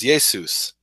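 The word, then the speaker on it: Ἰησοῦς: the Galilee um and in Greek there's no sha sound so Yeshua became Yeshua and in Greek pretty much every name ends in own orus right Joseph becomes Josephus so Yeshua becomes yesus and there are people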